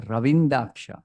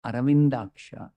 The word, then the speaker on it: Aravindaksha: See, you have to say Ravindaksha, not Aravindaksha. It's funny, no?